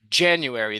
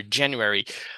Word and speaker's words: January: And here, January, this is the stress syllable here, January.